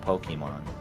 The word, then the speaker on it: Pokimane: I've never fucking Actually, it is supposed to be pronounced Pokemon.